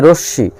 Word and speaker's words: রশ্মি: এরকম আছে রশ্মি, এই শব্দটা হলো অন্তঃস্তরের পর তালবস্বর সঙ্গে মফলা আছে, এজন্য তালবস্বর উচ্চারণ দুইবার হবে, ময়ের উচ্চারণ না হয়।